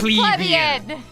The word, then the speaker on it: plebeian: All of you people pronounce it wrong. It's plebeian.